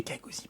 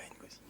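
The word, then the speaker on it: Kgosi: C'est Kagozi, pas Ngozi.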